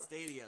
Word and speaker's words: Stadia: Stadia, I think is the name of it. Stadia, that's how you say it.